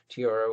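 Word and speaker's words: tierra: it wrong because i can't roll my arse tiara is earth and spanish but it's really tiara with the rolling guard but it's way too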